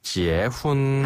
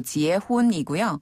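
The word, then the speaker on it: 结婚: 한번 배워 보겠습니다 뭡니까네 결혼을 중국어로는 지혜 혼이라고 해요 지혜 훈 한번 더 지혜 훈 지혜 훈 그렇죠 결이 라는 그 한자 발음 그대로를 중국식으로 바꾸자면 바로 지혜 혼이고 지혜 훈 그렇죠 신랑이랑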